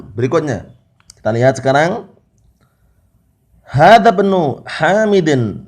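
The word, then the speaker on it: ابن: Hadza bnu Hamidin, bacanya seperti itu ya. Karena hamzah di sini hamzah apa? Hamzah di sini adalah hamzatul wasl. Hamzatul wasl itu barakallahu fikum, kalau dia terletak di awal kata, dia dibaca ibnun, ibnu Hamidin.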